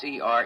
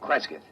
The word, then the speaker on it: Cresgyth: It's Cresgyth, Cresgyth. What's that, local? Well, that's his phonetic interpretation of the name the people here use.